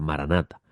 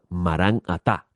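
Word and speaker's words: Maranatha: Que no es la forma correcta de pronunciarse la palabra maranata. Se supone que diga marán atá. Eso es una palabra aramea. Maratá significa marán significa maestro o señor y eh ata significa ven. Así que cuando usted dice maranata, debe realmente decir marangatá, que es la palabra las dos palabras correctas que deben pronunciarse, no hacerla una sola.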